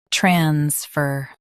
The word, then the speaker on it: transfer: Transfer. US stresses trans. UK stresses fur.